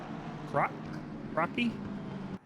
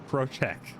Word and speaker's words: Krocek: See the field getting spread out already just a little bit, but the guys up in front, Williams and how do you pronounce that? Crocky? Krocek.